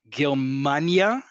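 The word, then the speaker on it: גרמניה: Germania, Germania. Look at how listen to how I'm saying it and look at my hand to indicate where the emphasis is.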